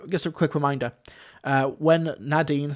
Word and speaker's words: Nadine: Nadine is pronounced Nadine, not Nadine. Just remember the first syllable rhymes with mad. You won't go wrong. Lovely. Nadine.